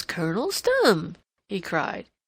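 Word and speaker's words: Stumm: grin why it's Colonel's thumb he cried he pronounced it like the first syllable and stomach very pleased to meet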